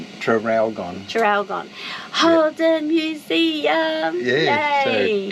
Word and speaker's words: Traralgon: So today we're going to the Holden Museum, in near Traralgon, I think is how you say it. Trafalgar, isn't it? Traralgon.